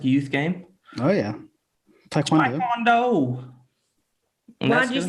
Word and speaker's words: Taekwondo: Taekwondo. And Why'd that's you good. say it like that? That's how it's pronounced.